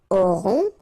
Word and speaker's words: aurons: Nous aurons, final S not pronounced, O and N together, nasal, on, A-U-O.